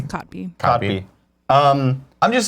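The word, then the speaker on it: Kotb: How do you pronounce her last name? Cotby? Cotby? It's Cotby.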